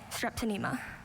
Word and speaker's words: strepsinema: Strepsinema. S-T-R-E-P-S-Y-N-A-E-M-A. Strepsinema. I'm sorry, strepsinema is spelled S-T-R-E-P-S-I-N-E-M-A.